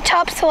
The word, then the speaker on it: Topsail: I'm talking about welcome to Topsail Island that's how the locals say it but it's actually spelled Topsail which leads to the